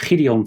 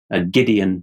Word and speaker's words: Gideon: He's called Gideon van Meijeren, Gideon in English pronunciation, and he is the